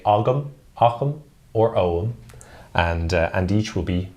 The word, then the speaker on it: ogham: heard me repeatedly saying om throughout this show I almost say it like the word home but without the H om uh the reason